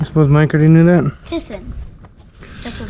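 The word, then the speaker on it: piscine: Pissin. Really? That's what it's called in French. No That's how kidding. you say swimming pool. I wonder if Mike knew that. What? I suppose Mike already knew that. Pissin.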